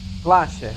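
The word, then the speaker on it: Klaasje: Clashia.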